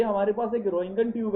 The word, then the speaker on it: Roentgen: ये हमारे पास एक एक्सरे बनाने का ट्यूब है, ये हमारे पास एक्सरे बनाने का ट्यूब है, इसको बोलते हैं रोइंगन ट्यूब।